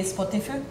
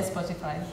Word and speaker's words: Spotify: actually pronounced in Finnish if we pronounce it in Finnish way it would be spotifu but no one says that we all say Spotify Spotify is very a